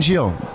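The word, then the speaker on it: Gilles Marini: Okay, so here we are with Giles Marini. Is that how everyone pronounces your name? Because I've heard it pronounced like 20 different ways. It's Jack and Jill. I'm the other one. Jill. That easy.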